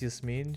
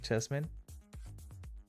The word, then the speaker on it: Yasmin: I have a mate whose friend is Yasmin. She really doesn't like it when people say it like Jasmine.